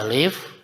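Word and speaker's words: ألف: Ini bacanya alif lam mim.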